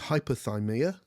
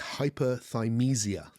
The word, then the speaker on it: hyperthymesia: In this chapter, I described the ability to remember everything as hyperthymia, and I mispronounced the word. It's hyperthymesia. Hypothermia is something else.